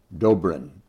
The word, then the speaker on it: Dobrin: So on this edition I get a chance to meet one of my good friends here Doorin. Am I pronouncing that correctly?